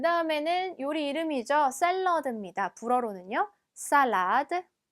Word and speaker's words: salade: salade, salade. 자, 발음이 있기 때문에 발음을 내주셔야 돼요. 영어처럼 L 발음이 나진 않습니다.